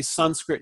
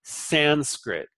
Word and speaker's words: Sanskrit: shocker some some script well often the a on the end is dropped because it's a short syllable so some script some script becomes son script and some script but it's not Sanskrit it's son script okay so if you